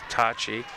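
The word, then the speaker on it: Toce: It's pronounced T-O-C-E. I believe that's Tachi.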